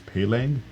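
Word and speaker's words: Peleng: an artist named, he goes by the alias Pelang, and to spell it out, it's P-E-L-E-N-G.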